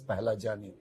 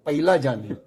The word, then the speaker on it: Pahlajani: From there, our surname has come as Pahlajani. But somehow the people who hear my surname, they either misspell or mispronounce. I'll give you some example. Somebody call me Pahlajani. Simple. Very simple. I could tolerate that. Somebody used to call me Pailajani. Somebody call me Paglajani.